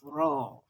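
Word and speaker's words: ر: a circular shape but when you pronounce letter r in english your leaves should be flat so that's just the difference between letter r in english and letter raw in arabic raw your leaves would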